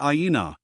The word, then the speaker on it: Aina: It was Aina, pronounced Aina. This news was flashed throughout the squadron, and the name of our beautiful captive was on the lips of all.